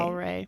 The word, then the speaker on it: Ouray: It's spelled our A-Y. Ouray. Ouray? I feel like I should know also, but you nailed it. That Okay. was the perfect pronunciation.